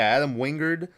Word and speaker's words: Adam Wingard: But Adam Wingard, is that how you pronounce his name? Um, yeah, Adam Wingard.